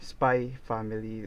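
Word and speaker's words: Spy × Family: So you don't pronounce the word X in that title because it's just like decorative style when you are writing a title or something like that.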